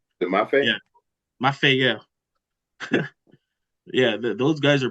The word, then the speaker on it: Mafe: Math. Mafe? Yeah. Mafe, yeah.